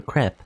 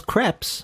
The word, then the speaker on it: crepe: Okay, it's crepe, not crepe. It's crepe, apparently.